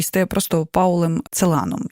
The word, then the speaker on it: Целан: дуже часто що його називають целаном напевно думаючи що якщо єврейського походження то це більш доречно так наголошувати попри те що розуміємо що потім жив у Парижі Пауль Целан відповідно теж Логічно що маємо наголос на останній склад чи відомо чому саме